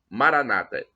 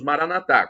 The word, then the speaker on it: Maranata: de Jesus a expressão Maranata os nossos irmãos evangélicos coloca uma tônica na penúltima sílaba nós católicos falamos Maranatha colocamos a tônica na última sílaba mas não importa porque